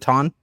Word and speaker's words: Ton: Is it Ton? Yes, that's correct.